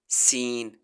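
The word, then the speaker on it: scene: ट्रीड wheat weed सीन यहां पर एस सी को कट्ठा पढ़ेंगे यानी कि स के साउंड के साथ यहां पर सी साइलेंट है जैसे साइंस में हम ऐसी स्कास नहीं कहते साइंस कहते हैं तो यहां सीन पढ़ा जाएगा सीन मीम जीन रीड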